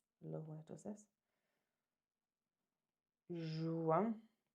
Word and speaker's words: juin: Juin. And that IN kind of sounds like an.